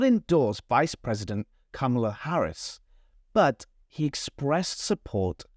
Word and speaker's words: Kamala: To say this name, we say Kamala. Kamala. She is Kamala Harris.